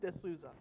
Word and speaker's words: DeSouza: guest is from nist toown Pennsylvania Dr duza how do you say it Desa okay good one of those names that you